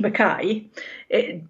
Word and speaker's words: McKay: Well, it's actually pronounced McKay by Scottish people. Oh, so it's a Scottish thing. As it's explained in the book, it's not an English name and it doesn't follow English rules.